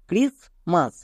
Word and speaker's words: Christmas: জায়গা রেখেছি কেন কারণ এখানে সাইলেন্ট টি বসবে আমরা উচ্চারণ করতে গিয়ে টি কে উচ্চারণ করবো না ঠিকই কিন্তু টি টাকে